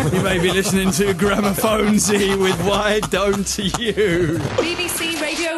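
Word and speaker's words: Gramophonedzie: Gramophonesy is not Gramophonevic. Gramophonesy is what you want.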